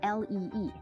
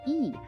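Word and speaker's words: 이: And the family we're talking about is the Lee family, spelled L-E-E. You might think it's pronounced Lee, but people who can read Korean say it's actually pronounced E.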